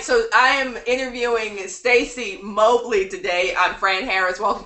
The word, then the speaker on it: Mobley: And I'm like, Mobley. My dad always said, pick the opposite of what everybody else said. All right, so I am interviewing Stacy Mobley today.